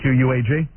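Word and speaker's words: Quogue: You spell it Q-U-A-G? That's misspelling. Spelling. Yeah, these guys screw me up every day. It's Q-U-O-G-U-E, isn't it? Yeah, that would be Quag. Right. But what they have there is Quag, Long Island.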